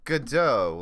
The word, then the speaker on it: Godot: i am back morphe i assume it would be pronounced like godot like the play like that yes it